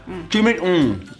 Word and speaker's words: chimichurri: Chimichurri. It's not like that. That's not how you say it. It's chimichurri. Chimichurri.